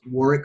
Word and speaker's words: Warwick: You can also find Warwick on LinkedIn at Warwick Fairfax. That's with the silent W in the middle, WARWICK, Fairfax.